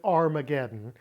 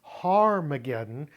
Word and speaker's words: Har Mageddon: Never pronounce it Armageddon because it has a rough breathing mark in front of the alpha. It's Har Mageddon because in Hebrew, Har means mount. Not Ar, but Har.